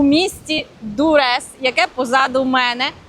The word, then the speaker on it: Дуррес: В Дурес, правильно, Дурес. Наголос на перший склад.